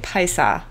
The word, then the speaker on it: Paisa: It's how you say it, Paisa.